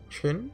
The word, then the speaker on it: Qin: I believe Q is Ch. Qin? That's before the Three Kingdoms era, wasn't it? Does that mean it even predates Shang Yu and Liu Bang? That's right. The Qin Dynasty was a major empire around 200 BC.